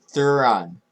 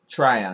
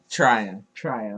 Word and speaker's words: Tryon: I have them going Joe Thuran, edge from Washington. Wait, Okay. pronounce that name correctly. Try, so I can try and help and translate for you. Joe Tryon. Uh-huh. Tryon.